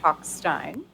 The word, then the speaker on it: Talkstein: I didn't know how it was pronounced, so he told me that it's pronounced Talkstein. Yes, thank you, Jared.